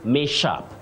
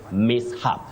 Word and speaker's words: mishap: about a small accident let us avoid saying Mish up Mish up no the S and H are pronounced separately you say map if you can see the phonetic transcription right here you say mishap mishap otherwise Betty can you